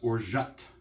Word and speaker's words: orgeat: but it's i had to look at myself pronounced or shot i double checked before i started so i